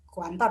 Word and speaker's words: kuantor: Jadi di sini kuantor ya Ibu Bapak, bukan kantor ya, berkuantor ya.